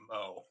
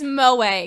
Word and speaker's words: moe: It's exceedingly Mo. Mo. Is that how it's pronounced? It's Moe, Cam. It's Moe. Moe? Moe. It's not Mo.